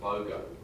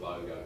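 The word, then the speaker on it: Bodø: in Northern Norway called BOGO it's I pronounced it properly I think it's a with a funny little thing on the top they call it BOGO so I'm rather Norwegian to set it that way um particular someone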